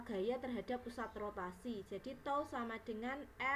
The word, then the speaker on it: tau: jadi momen gaya itu simbolnya seperti ini bacanya adalah tol jadi momen gaya atau